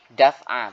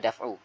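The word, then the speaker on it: دفعُ: bacanya jangan ini ya terkadang ada orang yang baca gini yakuna fil amalil mafduli daf'a bukan ya di sini adalah daf'u ya dibacanya daf daf'u tiib salah ini harus diperhatikan ya jangan sampai kita baca da dafah tapi daf'u ayakuna fil amalil mafuli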